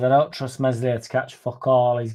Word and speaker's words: Meslier: I thought we could get Perry in and just forget this fucking Meslier silent S bullshit, man.